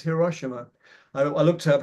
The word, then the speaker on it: Hiroshima: I think it's not Hiroshima, it's Hiroshima. I looked up how to pronounce it today, and there's going to be